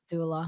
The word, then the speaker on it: Abdullah: How do you pronounce Abdullah, the person's name? Abdullah.